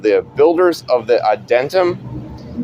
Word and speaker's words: Adytum: the Builders of the Adentum, ADYTUM, I believe that's how you say it, Adentum, or Adentum.